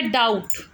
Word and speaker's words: doubt: खाली डाउट बोलते हैं, इसमें बी नहीं बोला जाता, बी साइलेंट है।